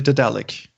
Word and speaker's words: Daedalic: Did they actually phone you up and say, "I'm sorry, it's actually Daedalic"? Well, no, I pronounce it according to Daedalus because I speak properly.